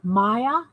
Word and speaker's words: Maya: Soft A, so it's Maya.